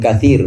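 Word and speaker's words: كثير: Sebagian ulama qiraat diantaranya Hamzah dan Kisai membacanya fihima ithmun kathir, bukan ithmun kabir tapi ithmun kabir, ithmun kathir.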